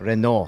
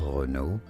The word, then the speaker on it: Renault: So in French in France it is said as reo the L and the T at the end are just absolutely silent. So, don't worry about them. Renault. Renault.